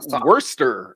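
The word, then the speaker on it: Worcestershire: wora sauce all right how do you pronounce that by the way oh I say wora sauce yeah okay and it's spelled worshire Worchester Shire but I think it's like Worster I think it's how it's supposed to be said or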